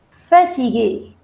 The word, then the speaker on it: fatigué: Je suis fatigué for masculine, and for feminine, it would be, the pronunciation is not going to change. Je suis fatigué. But there would be an extra E, just like fâché. Fâché, the pronunciation was same, but while writing, it makes a difference.